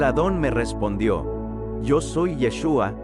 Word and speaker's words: Yeshua: podemos darnos cuenta que la forma de pronunciar su nombre en hebreo es yeshua Qué significa al traducirlo